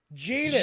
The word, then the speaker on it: Zenz: Genus. It rhymes with a certain body part. What? How do you say that? It's actually genus, although according to Jordan, it's genus. Genus.